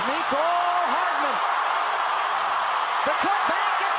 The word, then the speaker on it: Mecole: I don't think it's Mecole. Just Mecole, like Nicole.